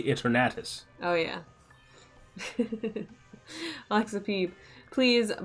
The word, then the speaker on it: Eternatus: That's how it's pronounced. You say Eternatus. You say Eternatus.